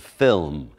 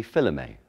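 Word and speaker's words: philome: And the whip has a handle and a lash of film. And that word film is spelled P-H-I-L-O-M-E. Film. Or possibly filme. Probably film.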